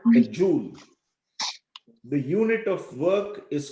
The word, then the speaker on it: joule: meter is called a joule. The unit of work is called joule. Joule. Joule. It's pronounced joule.